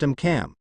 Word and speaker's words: AMCM: The anti-magic countermeasure or AMCM, pronounced AMCAM, was a special barrier that protects the Skinfax C from any known magical attack that was used by the 3 factions.